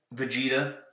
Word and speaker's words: Vegeta: Vegeta. I remember that's how it's pronounced because I watched Dragon Ball Z at some point.